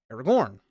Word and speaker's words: Aragorn: But Jesse was like, yeah, it's pronounced Aragorn.